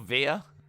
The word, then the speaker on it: Veer: Because he's called Via. Rhymes with deer.